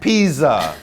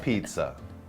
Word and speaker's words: Pisa: Pisa, not pizza.